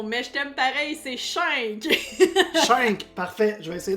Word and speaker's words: Shink: Schenk, c'est comme ça qu'on prononce? Schenk? Non, mais je t'aime pareil, c'est Schenk.